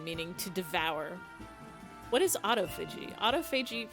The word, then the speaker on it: autophagy: Autophagy?